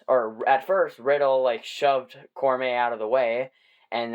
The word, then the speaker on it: Cormier: I think I butchered his name the last time, but it's Daniel Cormier.